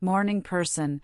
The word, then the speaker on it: morning person: For pronunciation, pay attention to the stress in phrases like morning person. The stress is on morning.